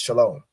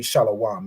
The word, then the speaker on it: Shalom: word shalawam or this it would really be pronounced Shalom right because this W isn't it's not a consonant it's an added vowel so even in this it wouldn't be shalawam it would be pronounced